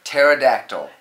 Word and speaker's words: pterodactyl: I've got that one right P is for pterodactyl this is my favorite the tamale the psychic